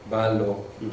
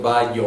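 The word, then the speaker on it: βάλλω: Ballo lo pronuncia con ballo. Doble El primero le o el. Sí, pero no es como en español, no es vallo, o sea, doble L es L, ballo.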